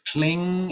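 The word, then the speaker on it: Kling: in your rehearsals but it's cling and we close to the ng cling glasses german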